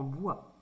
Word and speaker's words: bois: plus plus d'accord en bois ici on n'entend pas le S ça s'écrit comme ça